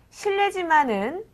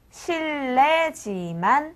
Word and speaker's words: 실례지만: 실내지만은 실례지만 이렇게 씁니다. 하지만은 실내지만 실레지만 이렇게 발음합니다. 네. 두 개의 차이가 구별이 안되실 수도 있겠는데요. 실리지만이라고 쓰고 실내지만 이렇게 읽는다는 거 잊지 마시기 바랍니다.